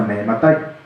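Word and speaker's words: מאימתי: esa es una palabra en arameo que se pronuncia Mehematai.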